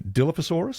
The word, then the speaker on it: Dilophosaurus: Did you know that the Brachiosaurus and the Dilophosaurus, I believe that's how you pronounce it? Dilophosaurus, yeah.